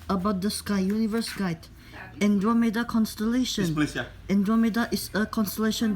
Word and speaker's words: Andromeda: Andromeda pronunciation is Andromeda.